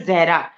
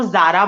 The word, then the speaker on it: ज़हरा: Actually मेरा नाम जो है जहरा। तो मोस्टली हम्म। जो नॉन मुस्लिम्स होते हैं वो प्रोनाउंस नहीं कर पाते, वो जारा बोल देते हैं, ठीक है।